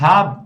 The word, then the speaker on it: hab: Dass ich heute keine Zeit habe, né? Hab, ou seja, sem aquele E, tá?